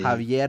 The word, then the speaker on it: Javier: So usually it's like that, like a H kind of, like an H kind of sound is what it is.